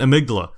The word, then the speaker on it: Amygdala: I'm pronouncing it amigdala.